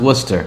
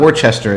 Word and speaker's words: Worcester: pronounce it it's pronounced Worcester it's not wer it's not Worchester as as as we Californians would pronounce it based upon the spelling or Canadians or can